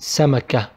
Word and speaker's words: سمكة: But if we have سكون I pronounce it سمكة. It will be pronounced like ها.